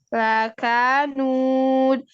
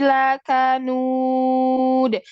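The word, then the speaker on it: لكنود: Nah, jangan diayun. Lakanud. Ketika fathah itu satu aja. Satu suara. Lakanud. Bukan lakanud. Jangan diayun.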